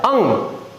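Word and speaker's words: ङ: उसमें आपने देखा होगा इसको हम अड़ पढ़ते हैं, परंतु वास्तविकता में इसका जो उच्चारण है वो इस उच्चारण के बराबर होता है, अंग।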